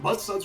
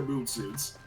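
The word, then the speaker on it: Muudsuud: Is it mud suds or mood suits? I think it's mood suits.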